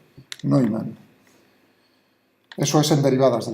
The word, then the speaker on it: Neumann: Recuerdo, la pronunciación en alemán EU es hoy, Neumann.